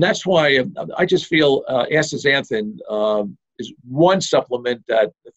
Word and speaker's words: astaxanthin: healthy aging, I really like the combination of astaxanthin and coenzyme Q10 together. Oh, that's interesting. That's interesting. This is the first time I'm hearing that. I don't want to try saying it right now. But astaxanthin.